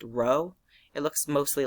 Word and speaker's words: rho: Resistivity is this Greek letter it's pronounced rho.